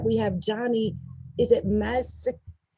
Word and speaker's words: Mazzocco: so excited that we have johnny is it massive how do you say your last name johnny mazako masako johnny masako is here with us today and